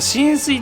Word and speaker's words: 浸水: 今回はあえて調べたんですけど、これ浸水って読むらしいですね。